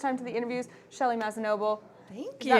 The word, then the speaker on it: Mazzanoble: And of course, you've also seen Mike Mearls today, but we're welcoming for the first time to the interviews Shelly Mazzanoble. Thank you. Is that pronounced correctly?